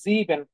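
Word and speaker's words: sieben: বলতে পারেন তাহলে দেখেন সেভেন এর যে উচ্চারণ সেটা হচ্ছে জিবেন এই যে দেখেন জিবেন কেন কারণ এস এর যে উচ্চারণ সেটা হচ্ছে জেড এর মত আর জেড যদি থাকতো সেটা এস এর মত হইতো তাহলে দেখেন জিবেন জিবেন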